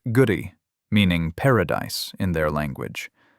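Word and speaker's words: K'gari: Specifically, they reached an island that the indigenous inhabitants called Kagari, pronounced Guri, meaning paradise in their language.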